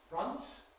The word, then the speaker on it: front: In English we do not say front. It doesn't rhyme with font, even though it's spelt with the same letters.